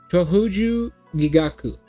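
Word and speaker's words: Chōjū Gigaku: Cho uju gigaku. Chohuju gigaku.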